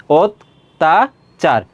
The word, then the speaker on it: অত্যাচার: আর খ হয় অত্যাচার তাহলে এর উচ্চারণটা কি হয়ে যাবে ও হয়ে যাবে অত্যাচার তিনটা ধাপে অত্যাবশ্যক এটা কি হবে অত্যাবশ্য রয়েছে অত্যাবশ্যক ছিল।